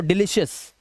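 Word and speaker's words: delicious: video को पूरा देखो यदि किसी वर्ड के लास्ट में ओ यू के बाद अगर आर या एस लेटर आए तो ओ यू का उच्चारण सीधा आ कर देना जैसे यहां पे देखो ओ यू के बाद आर तो कलर आ का उच्चारण हार्बर ठीक है ऑनर इसी तरह से फेमस यहां पे आ इस तरह से ओ यू के बाद एस दिखाई दे तो डिलीशियस डिलीशियस उआ कुछ मत करना प्रेशियस आ की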